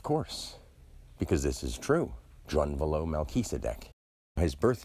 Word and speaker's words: Drunvalo: Now, this person's name, Drunvalo Melchizedek, this is a name given to him or taken by him. Drunvalo. Think of drawn value or drawn vital action as it lies ongoing.